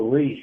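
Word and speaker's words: RHY6: It's Riz, right? Riz or Rish? It's Reese, right? Reese. Yeah. It's unique. Why is it spelled like that? Yeah. So Reese is my actual name.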